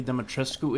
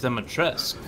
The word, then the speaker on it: Dimitrescu: Alright, I gotta see where Lady Dimitrescu is.